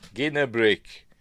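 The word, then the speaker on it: Ginarrbrik: What is it now, Ginnabrick? Ginnabrick, like Martin Guerrero of Stargate. No J.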